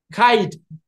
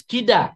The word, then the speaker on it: kaid: For example, the word kaid, which is spelled in Jawi, kayadal or kyd, it has been pronounced as kida, which is not kida, it's kaid, it's a Persian word.